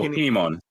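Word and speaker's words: Kin'emon: But like I forgot that I am gonna butcher his name, so I'm gonna have you pronounce it. The fire samurai with the 2 swords. Oh, Kinemon.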